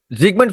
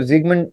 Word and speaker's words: Sigmund: तो जो इसको सिगमंड फ्राउड भी कहते हैं लोग, सिगमंड फ्रॉइड भी कहते हैं लोग, बट इसको जिगमंड जिगमंड इज the actual pronunciation as much as आई can recall.